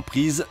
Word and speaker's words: Priz: asistencia en gran el AS-32 y el Priz (pronunciado "Priz").